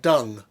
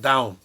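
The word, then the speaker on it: Dão: Okay, this is Ribeiro Santo, which is from the Dow, D-A-O, pronounced, I was once told, like dung, but it's not, down.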